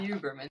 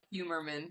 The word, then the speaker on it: Huberman: I thought I would keep Oh, wanting to say Humerman, and I'm like, nope, not oh. Humerman.